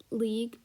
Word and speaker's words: league: word we have is league and you pronounce it as league without the e uh the u sorry